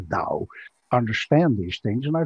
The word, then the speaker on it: Tao: artists or or taoist tower spell tao we pronounce the dao understand these things and